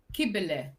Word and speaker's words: Kibele: Oh, yeah, it's Kibele, I think. Kibele. Because the C is a K in Turkish. if there's not the squiggle underneath.